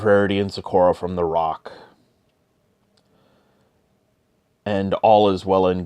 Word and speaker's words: roc: And Rarity and Zecora end up in the crossfire between Spike and a rock. Bit of a small rock. For those not familiar with rocks, it's spelled R-O-C.